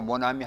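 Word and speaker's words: mon ami: 모나미 모나미 하지를 않고 모나미 하는 이유는 프랑스어에는 여는 규칙이 있어서 처음 하고 몸이 왔을 때는 점과 몸을 같이 붙여서 한 음으로 발음한다 그래서 모나미라고 읽는다 이렇게 하시면 되겠어요 자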